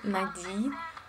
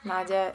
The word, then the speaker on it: Nada: Well, there is just one girl who usually call me Nadi with the stress on the last um part, but usually it's just Nada.